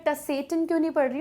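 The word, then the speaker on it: Tsetan: अब आप बोलेंगे कि ये टी को मैं सेटन क्यों नहीं पढ़ रही हूँ, तो ये जो टी है ये साइलेंट है इसलिए सेटन बोलेंगे।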